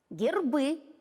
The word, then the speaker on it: гербы: Герб, а если их несколько, гербы.